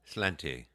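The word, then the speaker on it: sláinte: How you pronounce that? Slanty.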